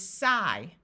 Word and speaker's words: sigh: here are some examples IG has a long I sound so this part is I so the word is sigh tight there are a